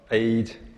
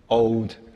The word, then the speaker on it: Aodh: who's going to tell you a bit about Aodh and Zaqar. Okay, next I'm going to introduce a little bit about Aodh, and somebody call it Aodh, Aodh, A-O-D-H, whatever.